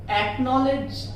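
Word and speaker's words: acknowledge: सी, वहां पर सी को साइलेंट कर दीजिएगा, प्रोनाउंसिएट मत करिएगा। जैसे कि एक्वायर, एक्नॉलेज, एक्वाइंटेंस, ये लेटर्स।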